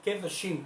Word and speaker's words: Qedoshim: Y veía yo que decía que no se escribe con K, se escribe con Q y la E no se pronuncia. Aunque se escribe Kedoshim, se pronuncia Kedoshim, como sin la K, ¿ok?